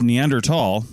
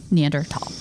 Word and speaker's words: Neanderthal: valley in Germany and Tall THS is like high German for Valley okay so it's neander tall or neander Valley I mean that's ger word and that's just how it is pronounced in German so therefore neander tall yeah and I'm willing